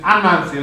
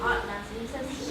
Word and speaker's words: Anansi: you, that you have different places where people pronounce it different ways, but in P, which is where his name comes from, it's Anansi.